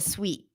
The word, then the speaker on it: suite: bathing suit in the suite I forgot my bathing suit in the suite good what about this one would you pronounce it differently and yes Susanna it does sound exactly like sweet I have a sweet